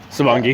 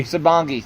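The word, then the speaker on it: Sabongui: I mean, it wasn't necessarily a personal moment, but I mean, uh, you know, we had, you know, Patrick sitting on Sabangi. Sabongi.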